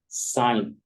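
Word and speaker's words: sign: एस आई जी एन साइन एस आई जी एन साइन साइन पढ़ना पड़ेगा जी के आवाज को बिल्कुल खत्म करना पड़ इसी तरह जी एन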